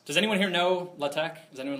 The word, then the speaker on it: LaTeX: and they listed python the programming language and latek spelled l a t x Mis commonly mispronounces as latex does anyone here know latch does anyone like a like a research thing